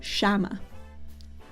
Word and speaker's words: llama: You pronounce it like sh. Like, instead of saying like llama, you would say shama.